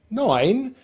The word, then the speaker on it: nine: So number nine starts and finishes in the same N nasal consonant sound, because of course the E at the end of this word is silent.